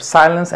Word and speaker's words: silence: Para eso, cuando tú veas fonética, y si ves que una palabra lleva aquí el apóstrofo, como en estos casos, ya sabrás que va acentuado en la primera sílaba. Father, silence and working.